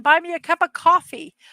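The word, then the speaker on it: Ko-fi: You can buy me a cup of coffee. I've been pronouncing this Kofi. I'm going to now change it to coffee at Mrs.DadmanWalking55, or you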